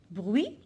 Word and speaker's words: bruit: Bruit, le bruit.